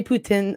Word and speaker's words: poutine: You said poutine? Yeah, we say poutine. It's I have a French background, so that's how you say it in Quebec. So poutine is correct as well.